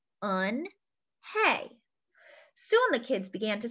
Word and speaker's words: Unhei: to say it hey anhei said her name again slowly and clearly on hey soon the kids began